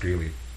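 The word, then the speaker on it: Grelle: I believe it's pronounced Greeley.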